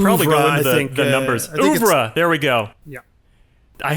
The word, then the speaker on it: oeuvre: Oeuvre, there we go.